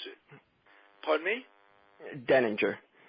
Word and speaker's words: Deininger: Deininger. The I silent.